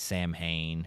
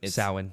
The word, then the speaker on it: Samhain: Yeah, which I mean most people know it as Samhain, but it's Samhain. Samhain. That's how they pronounce it.